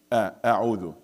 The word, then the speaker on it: أعوذ: Do not say oh. That's a mistake. A'udhu.